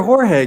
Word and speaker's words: Jorge: Is your name George or Jorge? Because it's spelled the way I call people in LA, the Jorge. It's whatever comes out first. I get like a 60-40 on George, I think.